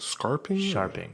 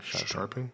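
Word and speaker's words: Scharping: Is it Scarping? Sharping. Like so the C is silent?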